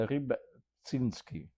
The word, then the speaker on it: Rybczynski: Ça s'appelle Ribinski, c'est un nom polonais plein de lettres finalement et de Y et puis tout ça mais enfin vous le voyez vous-même sur le texte.